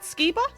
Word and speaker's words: Skeeba: differently oh okay all right nice it's more pronounceable I guess it's felt out am I saying it right Skiba yes so um this new sound have you